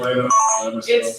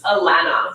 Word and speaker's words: Alana: Is it Atlanta? It's Alana. So I think Alana, it's hard for Americans to get their mouth around the la, but we'll work on it.